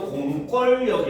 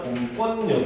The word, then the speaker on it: 공권력: 자, 공권력 같은 경우도 보면은 공권력이 아니라 공권력이 됩니다.